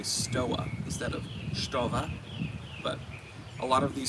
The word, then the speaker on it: Stowa: Stowa. Now in German, It's pronounced Stova.